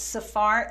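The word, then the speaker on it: Sephar: Go ahead and spell that out, too. It's Safar, S-E-P-H-A-R, C-H-A-M-U-E-L.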